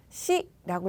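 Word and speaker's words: し: 그리고 숫자 4는 읽는 방법이 두 가지예요. 뒤에 붙는 조수사에 따라서 읽는 방법이 달라지는데요. 시라고 읽을 수도 있고요. 용이라고 읽을 수도 있습니다. 시 혹은 용.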